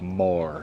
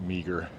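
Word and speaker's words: Meagher: H E R and it's pronounced Mah, not meager.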